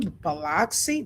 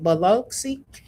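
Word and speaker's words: Biloxi: Do they live in Bloxy? Beluxy.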